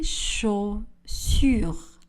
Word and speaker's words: chaussures: Mes chaussures. Le S de pluriel ne sera pas prononcé.